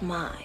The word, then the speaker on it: May: these cuckoo names I it's spent may but it's pronounced my can you remember that